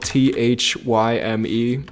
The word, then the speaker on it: Thyme: It's called Wild Mountain Thyme, but time is spelled Thyme, which I assume Wild Mountain Thyme.